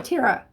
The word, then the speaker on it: Tira: Okay, so Tira. So I was just pronouncing it totally wrong.